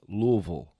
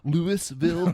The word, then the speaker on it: Louisville: probably hip to The Exchange how do you pronounce that City say it oh that would be Louisville okay all right good enough what do you think I wouldn't that would be that would be Louisville Kentucky yeah Louisville Louisville shout out to Matt